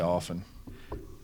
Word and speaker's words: often: You don't pronounce the T.